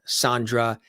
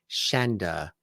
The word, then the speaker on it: Shanda: giving but uh yeah she pronounces her name Shanda like chandelier she says things chandelier